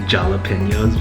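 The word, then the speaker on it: jalapeño: So in my last video, I was joking around saying jalapenos because I just think it's fun to say. I know it's pronounced jalapeno.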